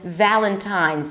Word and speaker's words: Valentine's: Another important sound is the V sound, as in Valentine's. Some non-native speakers, especially Spanish speakers, may turn the V sound into a B sound.